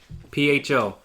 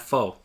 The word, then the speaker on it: pho: is like perfect yeah mispronounced ba pho not full get that right people